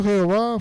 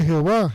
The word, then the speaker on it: Jehová: Recordemos que la letra J en el hebreo antiguo no existe. Aquí se indica que J en vez de la H por la pronunciación en realidad.